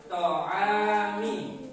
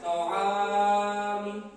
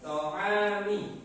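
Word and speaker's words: طعام: Nah, itu pada bagian panjangnya hanya dibaca dua harokat. To'ami, tidak boleh to'ami. Nah, itu sangat panjang. To'ami.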